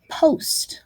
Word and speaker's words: post: And then finally, the sound ost, as in the word post, like post office, right? We have one vowel there, closed in by two consonants. You would almost think this would say post, right? But it just doesn't. It's an exception to the rule. It has a long O sound.